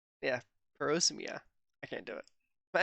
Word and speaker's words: parosmia: As you saw in the last video, we talked about parasomia. Did I pronounce that right? Parosmia. Yeah, parosmia.